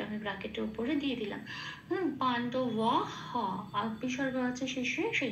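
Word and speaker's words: পাণ্ডবাঃ: তাহলে হবে ধনুর্বিদ্যামিয়া পাণ্ডবাহ।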